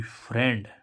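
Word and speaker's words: friend: अब ऐसे हम देखें एफ आर आई ई एन डी फ्रेंड फ्रेंड फ्रेंड शब्द में आई का उच्चारण ए से होता है देखो अभी तो हमने आई का उच्चारण बड़ी भी पढ़ा था और आई भी पढ़ा था और छोटी भी पढ़ा था लेकिन अभी तक हमने ए नहीं पढ़ा था लेकिन जो फ्रेंड शब्द है उसमें आई का उच्चारण ए होता है जैसे हम देखें एफ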